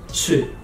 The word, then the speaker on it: چ: And then next one, three dots inside, ch. Ch. Like cheese. Ch.